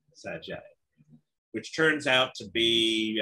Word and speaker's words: Sgr: And we write SGR, but we say Sag just because that tells you you're an insider if you know how to say it.